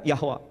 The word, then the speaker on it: Yehovah: Sementara bahasa Ibrani, pronunciation-nya Yod, He, Vav, He, Yehovah. Yehovah, atau kadang Yahweh.